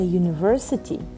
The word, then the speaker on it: university: But for example, a university, U sounds like a consonant.